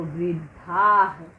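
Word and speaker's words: वृद्धः: आप देखिए आ के आगे विसर्ग लग गया है तो हम इसका उच्चारण क्या करेंगे, आहा। ठीक है, तो वृद्धाह क्या हो गया, ध में आहा जुड़ गया तो धाह हो गया वृद्धाह। देखिए इस तरह से यहाँ वृद्धाह लिखेंगे।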